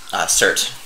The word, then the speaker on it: Surt: I am Surt. Surt. So, how do you spell that?